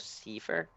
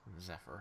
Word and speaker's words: Zephyr: You can roll religion, and just because we pronounce it differently in America, I'll write it down. Zephyr? Zephyr. Oh, Zephyr. Yeah. I got a 15 on my religion roll. Okay. My way of pronouncing it is just because I'm Norwegian and doesn't know how to pronounce certain words.